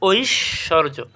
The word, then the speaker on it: ঐশ্বর্য: বুঝতে পারতেছো এরপর আসো ঐশ্বর্য এটা হবে ঐসর্য ঐশ্বর্য মনে রাইখা কিন্তু